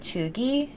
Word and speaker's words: cheugy: the classic Coachella outfits are becoming kind of chuggy. So I don't really know. Yeah. What What does that mean? chuggy? Okay, it's spelled CHEUGY.